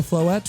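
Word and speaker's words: Floette: Also, Flette rhymes with baguette.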